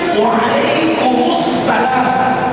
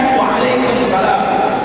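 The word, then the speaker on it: وعليكم السلام: baca Sukur yang benar tanda bacanya adalah noral maka bunyinya Waalaikumussalam bukan Waalaikumsalam pengertian kum salam dengan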